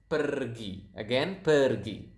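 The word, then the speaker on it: pergi: So, as you can see here, we pronounce the R quite clearly. So, it is kind of like Spanish. If you if you guys speak Spanish out there, I think you will notice that Indonesian pronounce the R quite similar to to the to to the Spanish language.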